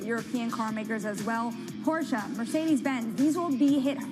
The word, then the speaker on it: Porsche: Yes, Porsche. I will point out that's someone's name, right? And that's how you say it.